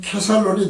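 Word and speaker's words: כסלון: 근데 히브리어 발음으로 하면 케살론이 되죠.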